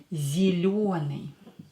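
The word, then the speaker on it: зелёный: but by color pission zelune yo is always stressed in words so try to pronounce it a little bit longer a little bit deeper is a gromny tell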